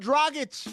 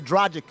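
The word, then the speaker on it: Dragić: Goran Dragic. It's like a dragon with an itch. That's what I've been saying since 2008. And people still say Dragic.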